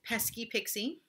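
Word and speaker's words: Peskipiksi Pesternomi: People were wondering how to say it because it's spelled kind of funny, but it is Pesky Pixie.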